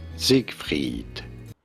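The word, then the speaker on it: Seigfried: to pronounce py freed this is normally pronounced as Zig freed SE freed same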